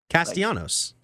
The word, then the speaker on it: Castellanos: I guess, but you could just pronounce their names like normal. Yeah, but Nick Castellanos, no. Castellanos.